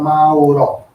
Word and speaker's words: Mauro: try to say Maori, but Mauro with the O at the end.